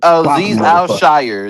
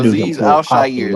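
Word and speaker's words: Al-Shaair: I can't pronounce his name. Goddamn it. Say it again, Freddie. Yeah, that dude can fucking. Aziz Al-Shire. There we go. Hey, yeah, him. That Aziz Al-Shire.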